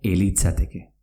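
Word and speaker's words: ez litzateke: Es litzateke, que quiere decir no sería, se pronuncia elitzateke. Esto es, te comes la Z.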